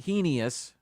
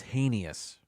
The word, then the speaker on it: heinous: here zoology number three it's not heus it's heinous uh this word reminds me